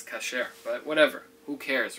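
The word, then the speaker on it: כשר: Kasher. What's pronounced in the world as kosher is really the word kasher.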